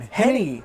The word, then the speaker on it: Henne: How do you pronounce your last name? Henne.